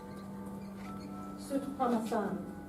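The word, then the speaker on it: Soutphommasane: It's pronounced it's Suftoman. I've got it here. Let's for YouTube people. Sutpamasan. Dr. Tim Sutpamasan.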